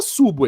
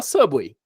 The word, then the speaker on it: Subway: né Subway você sabe ninguém fala subo aí todo mundo fala Subway memória auditiva porque um